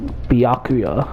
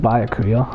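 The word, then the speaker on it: Byakuya: to the investigation well now that i know the proper pronunciation is biakuya i'll try to say that from now on instead of buy a career hold on hey biake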